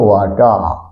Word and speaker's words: water: ওয়ার্ডের শেষে আর থাকলে এর উচ্চারণ হয় না, WATER, আর লাস্টে আছে, এর উচ্চারণ হয় না, ওই জন্য উচ্চারণটা হলো ওয়াটার, NEVER, নেভা।